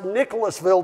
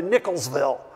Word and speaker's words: Nicholasville: go onto YouTube and see how people pronounce Nicholasville to make sure they didn't shorten it down to Nicholsville seems to be a Kentucky tradition shorten it down and so we have worked